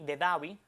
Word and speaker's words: Abu Dhabi: en otras, como por ejemplo Abu Dhabi, S D H A B I Davi, te saca dicen, bueno, esa H ahí no tiene ningún sonido, vamos a eliminarla.